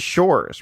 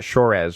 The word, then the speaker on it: Shores: I made the assumption it is Shores, right? It's not Shorez or anything like that, is it?